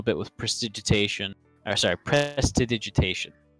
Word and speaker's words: prestidigitation: with precipitation I'm sorry prestidigitation that's the real pronunciation not press digit 8 well I mean I